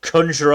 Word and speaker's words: conjure: uh the colonials uh we pronounce it conjure like with an ah sound i feel like there's